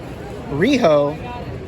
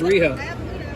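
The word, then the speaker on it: Rhio: ah there she is on Hiatus they got Owen Hartz down there rijo rijo you say her name is Rio and she's dancing in the rain up above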